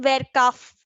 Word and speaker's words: verkauft: Ihr verkauft. V is pronounced as F, so it will be verkauft.